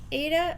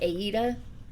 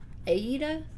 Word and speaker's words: Aida: pronounce it the like the people who make it pronounce it aida apparently aida i don't know i'm